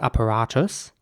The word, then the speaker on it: apparatus: The next word is spelled A-P-P-A-R-A-T-U-S. And in British English, it would be pronounced apparatus. Apparatus. And in American English, it would be more like apparatus.